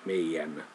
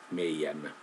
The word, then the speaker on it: meidän: Me, meitä, meidän. What happens with these genitive forms is that in some areas the D is not pronounced, so it's omitted, meidän.